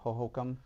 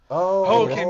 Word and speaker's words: Hohokam: No, it's the A stadium, Hohokam. Hohokam, yeah.